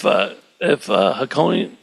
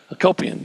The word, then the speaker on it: Hakopian: Do we know if Hakonian, how's he say his name? Hakopian.